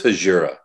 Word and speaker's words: Hejira: It is Hejira.